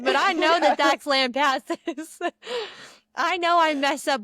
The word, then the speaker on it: Lampasas: I said, I know I'm not the best at pronunciation, but I know that that's Lampasses.